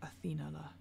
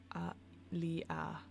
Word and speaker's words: Anthelia: Within stands a castle like a waterfall of white stone, the throne of Athena. That's not how you say it at all. Anthelia.